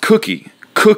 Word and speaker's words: Cookie: My wife, I call it kooky, and I apologize. It's not kooky, so I'm going to correct myself right now, and from now on, I'm really going to try my best to say it properly. It's pronounced cookie, like the cookie that you eat.